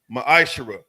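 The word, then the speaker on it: מעשר: tithes which is a commandment the book of numbers 18 21 the book of Malachi chapter 3:es 8-10 it means 10th in the Hebrew is pronounced maishara 10% of every penny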